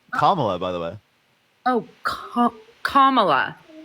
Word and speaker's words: Kamala: And also, Camilla has no policies listed. Camilla? Well, look that up. Wait. Is that respectful for Like you to the say her name princess? that way? It's Kamala, by the way.